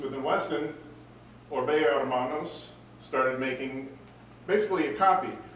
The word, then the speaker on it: Hermanos: As Dave Murphy correctly pointed out, the H in Hermanos is silent. Orbea Hermanos, which means Orbea brothers.